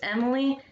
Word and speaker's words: Emileigh: Her name is, I think that's Emily. It's spelled Emileigh. That is Emily.